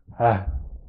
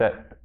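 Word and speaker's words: ة: In terms of pronunciation, ha is always pronounced ha. Ta marbuta, if we're not putting a vowel after the ta marbuta, is pronounced ha as well.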